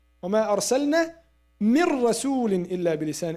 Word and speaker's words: من رسول: من رسول وما أرسلنا من رسول إلا بلسان. We don't say من رسول. We say من رسول.